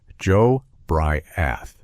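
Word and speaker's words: Jobriath: His name was Joe Briath, pronounced Joe Briath.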